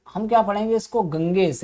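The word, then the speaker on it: Ganges: तो हम पढ़ेंगे जब, तो हम क्या पढ़ेंगे इसको, गंगेश। लेकिन जब जो इंग्लिश है, तो ब्रिटिश इंग्लिश में इसको क्या पढ़ा जाएगा, गैंजिस। वो इसको ना तो गंगा बोलेंगे ना गंगेज बोलेंगे, वो बोलेंगे गैंजिस। समझ में आ रही है,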